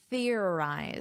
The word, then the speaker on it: theorized: Let's practice this pronunciation, theorized. So, notice an unvoiced th. You put your tongue between your teeth.